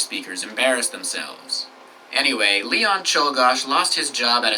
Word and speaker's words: Czolgosz: had a name that was much harder to pronounce. Here's the name. Take a moment to read that. Any guesses? It's Czolgosz.